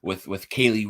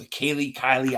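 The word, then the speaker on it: Kelee: And then I just really think that the day 3 of the draft, the way it started with Kaylee Ringo, it's Kylie. I always say it wrong.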